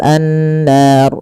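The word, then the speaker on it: النار: Kemudian pelafal annar di sini ada ghunah. Pada lafal nun cara membacanya yaitu ditahan suara nunnya. Ashabun bunu lepas nar.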